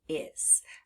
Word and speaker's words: is: We hear the sound Z, but it's spelled with the letter S.